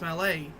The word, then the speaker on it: Mallet: the old malet types even though you spell like Mallet like what Amy Rose swings at Sonic her Mallet Hammer well it's pronounced Malay wait in fact I